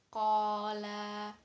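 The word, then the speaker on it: قال: Jadi di sini ada fathahnya di huruf qaf bertemu dengan pasangannya yaitu alif, jadinya panjangnya 2 harokat. Jadi bacanya qola.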